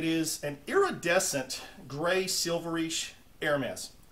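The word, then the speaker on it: Hermès: an iridescent gray silverish air mass or air may depend on how you say air mass i think it's a proper pronunciation uh i don't know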